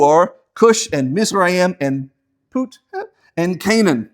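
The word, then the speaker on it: Phut: Now the sons of Ham, who are Cush and Mizraim and Put and Canaan. I know it's spelled P-H-U-T, but it's pronounced Put.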